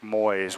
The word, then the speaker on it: Moyes: I was not pronouncing his name correctly. It's Rick Moyes. One syllable.